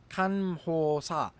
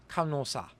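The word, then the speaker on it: 간호사: Similarly, this word meaning nurse should be pronounced kanhosa, but it is instead pronounced kanosa.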